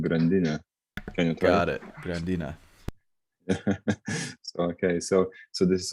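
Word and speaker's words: Grandine: clients and other fun things how about uh grand dean is that how you pronounce that hi so it's actually a lithium world warden which is pronounced grandina okay so so this is what i'm gonna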